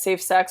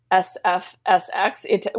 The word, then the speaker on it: SFSX: So safe sex, which you can pronounce it out loud as safe sex, or you can pronounce SFSX.